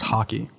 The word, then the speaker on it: Haki: Is he learning Haki for the first time? I know Rayleigh taught him a lot. It's pronounced hockey.